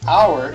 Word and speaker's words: hour: is our the exception because it doesn't have the H sound and so it's even though it says our it's spelled with an H we're looking at about